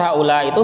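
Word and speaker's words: هؤلاء: Jadi lafaz haula itu selalu, ya, berharokat kasrah. Haula'i. Ya, taqul, Anda katakan misalnya contoh nomor 1. Hadara haula'i. Ya. Telah hadir haula, ya, orang-orang, ya, orang-orang itu sudah hadir. Bacanya dengan haula'i. Nanti contoh di bawah lagi,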